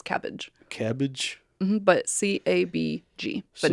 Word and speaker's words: CABG: Okay, this next one is pronounced cabbage, but it is CABG. Everyone just says cabbage.